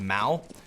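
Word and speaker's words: mou: I tell you what what a play from moo let's get ourselves an owl Vision terrorist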